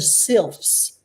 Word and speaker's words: Sylphs: call themselves I have to read this, the Sylphs. I never know how to say this. SYLPH. They're the Sylphs.